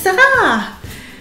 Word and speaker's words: Sarah: Ensuite Sarah comme dans princesse Sarah. Sarah, c'est deux syllabes.